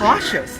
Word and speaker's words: cautious: It's a cool ability Do that not Cassius- mistake their behavior for Cassius, weakness, warrior. cautious. That's how you pronounce it.